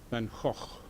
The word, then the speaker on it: van Gogh: or two about pronunciation I think most of this audience would call the artist in question beggar I call him van Gogh and our Dutch colleagues call him van hoff which is too difficult